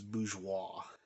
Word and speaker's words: bourgeois: First, you do everything possible to make sure your world is anti-Borgo, that it defies Borgo, I'm pronouncing that word wrong, I know, bourgeois, I think it's bourgeois, taste, bougie taste, there we